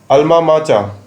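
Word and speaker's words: alma mater: अल्मा माचा, इसको हम अल्मा माचा प्रोनाउंस करेंगे।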